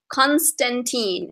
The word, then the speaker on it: Constantine: with so many of them is John Constantine Constantine am I saying it right yes so okay